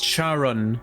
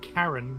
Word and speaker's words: Charon: it's Karen karon yeah Google it how to pronounce how dare you disrespect the fair dead like that Charon Charon well that's what Google says it's not Karen is you were saying Karen Sharon Shon Sharon